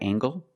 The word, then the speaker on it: angle: Is this a right angle? That's right. This is a right angle. Use the nasal m plus the hard gangle. Angle.